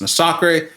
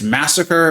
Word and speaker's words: Masakre: Yes, his name is pronounced Masakre. Before you come and tell me it's massacre and that I should look at how it's spelling, I will tell you,